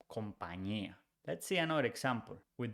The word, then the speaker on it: compañía: on top, the ñ, and the ñ is pronounced ñ. So company becomes compañía.